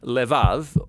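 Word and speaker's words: לב: We're going to look at the fourth key word in this prayer, heart, which in Hebrew is sometimes pronounced levav, or more often in a shorter form, lev. Now, different cultures throughout history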